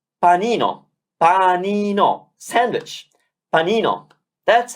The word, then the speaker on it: panino: said so let's pronounce and then finally let's pronounce panino panino sandwich panino that's how easy it is